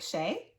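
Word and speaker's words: Shea: I'm like, Shay? Yeah. Oh my God, I feel so dumb. I was saying Shia.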